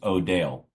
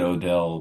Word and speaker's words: Odell: Which, for anyone listening, it's spelled Odell. And I said Odell probably at this point a couple months ago to Mema, and I got corrected very quickly. It's O'Dale, which is, I think